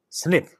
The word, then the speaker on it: SNP: polymorphism that is SNP in most cases asnp pronounced snip has two Alternative forms that is a and